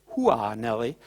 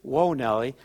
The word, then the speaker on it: Whoa Nellie: in Europe I noticed a lot of people say wha Nelly but it is whoa Nelly and we kind of